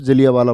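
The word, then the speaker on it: जलियांवाला: है एक घटना लिखेंगे जलियावाला बाग जलैया वाला बोलते हैं वैसे तो और बोलते टाइम उच्चारण में हम लोग बोल देते हैं जलिया वाला जलिया वाला बाग हत्याकांड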